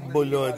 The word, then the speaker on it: Bulod: BULOD, yeah, okay.